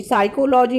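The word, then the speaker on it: psychology: साइकोलॉजी में P silent है क्योंकि P की कोई साउंड नहीं है, S से साउंड आ रही है, तो P साइलेंट हो जाएगा।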